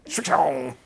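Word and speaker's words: Srixon: Strixon.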